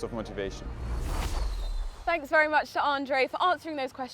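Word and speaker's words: André: name lotra Lottie then because I grew up in Belgium um my name's pronounced Andre so they call me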